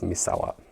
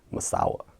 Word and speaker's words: Misawa: My last area was Misawa, but a lot of the Americans would pronounce it like Masawa.